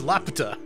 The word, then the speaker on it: Laputa: It's Laputa. Yeah, I was going to say. That's how we pronounce it.